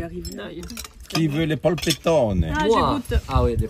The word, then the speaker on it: polpettone: Ah, polpettone. C'est Pol- polpettone. Ah, polpettone. Polpettone. Qu'est-ce qu'il y a dedans? Est-ce qu'on prononce bien?